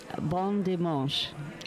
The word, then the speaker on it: bon dimanche: Bon dimanche.